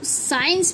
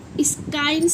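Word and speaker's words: science: इसे आप ना तो साइंस पढ़ते हैं। इसमें सी वॉइस कहां है? सी साइलेंट है। देख आपने कभी सोचा? देखिए स्काइ नहीं पढ़ेंगे इसे।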